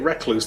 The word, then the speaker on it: Recluse: that is recluse like you say it recluse like a reckless but it's spelled rec and then loose wonderful with a W